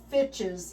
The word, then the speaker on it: fitches: Especially um I didn't know what uh I didn't know what uh I think it's pronounced uh fitches. Yeah, just like witches.